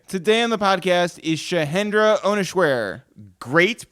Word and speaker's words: Shahendra Ohneswere: Today on the podcast is Shahendra Ohneswere. Great pronunciation.